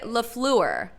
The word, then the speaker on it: LaFleur: thing on NFL Now about how it's 3 syllables. Everyone is pronouncing it wrong. Wait, so say it right. What is it? He said it's supposed to be LaFleur.